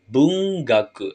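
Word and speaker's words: 文学: ya minasang Mana Bu belajar dia akan dibaca Bung gaku belajar kalimat sama dengan sastra lanjut ke contoh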